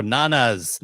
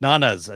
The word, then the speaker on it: Nonnas: From Glenuccio, Nonnas. Okay, sorry, Nonnas. Italian just put out a hit on Chris for that atrocious mispronunciation.